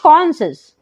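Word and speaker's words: conscious: silent तो पढ़ेंगे Saint कॉन्शियस यहां पर भी क्या है सी एस के बाद आया है तो क्या पढ़ेंगे कॉशस चलिए जानते हैं कि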